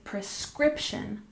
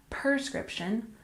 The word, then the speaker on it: prescription: We stress the second syllable, and remember we say prescription, not prescription, prescription.